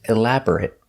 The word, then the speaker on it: elaborate: adjective the pronunciation changes if it's not a verb it's elaborate it it makes a short sound elaborate describes something made